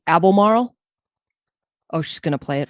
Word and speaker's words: Albemarle: So it's actually pronounced the Albemarle.